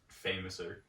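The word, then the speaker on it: Fameasser: The famouser is Billy Gunn's move. Fame-asser. Yeah. That's what he calls it in AEW, is the fame-asser. It's literally fame-ass-e. I know that's how it's spelled, but I always heard it say...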